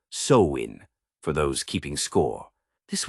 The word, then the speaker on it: Samhain: Picture the ancient Celts in what's now Ireland, Scotland, and parts of France, celebrating a festival called Samhain, pronounced Samhain, for those keeping score.